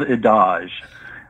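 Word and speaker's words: Ydoj: daydream series um and how do you pronounce in the land of in the land of adage jody spelled backwards yeah that is absolutely right jody fell backwards because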